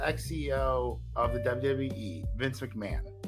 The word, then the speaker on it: McMahon: This guy's name is well, it's not that the H is silent. The H is just quick. Vince McMahon.